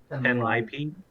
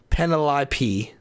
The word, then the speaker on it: Penelope: Also, Gray says Penny is short for how am I supposed to pronounce it? Penelope. Penelope. Penlipey? Penelope.